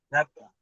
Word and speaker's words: caminata: Entonces, ¿dónde iría? En la na.